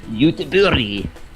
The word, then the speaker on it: Göteborg: Do you know about, there's a town in Sweden that's spelled Gothenburg and pronounced Göteborg. Oh, that's very nice.